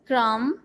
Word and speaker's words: crumb: Example में आपने मुख्तलिफ एग्जाम्पल दे सकते हैं, जैसे यहाँ पर दी हुई है lamb, crumb, knob, no, wrist, wrong. lamb में कौन सा साइलेंट लेटर है?